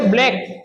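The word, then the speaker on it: black: जैसे ब्लैक सी क्या हो गया? साइलेंट।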